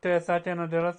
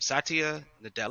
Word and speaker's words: Satya Nadella: Zero, would you like to read what Satya Nadella said?